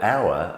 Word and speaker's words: hour: Well, hour, O-U-R, is a determiner, and hour, H-O-U-R, is a measurement of time. Exactly the same pronunciation, but different spellings and, of course, different meanings.